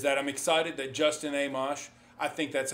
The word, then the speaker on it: Amash: You know, the other thing I wanted to touch on nationally is that I'm excited that Justin Amash, I think that's how you say it.